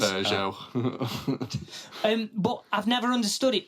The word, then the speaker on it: Peugeot: It's not like driving a Pergo, is it? A Pugot. Pugrot. Liam has trouble pronouncing car names. Peugeot.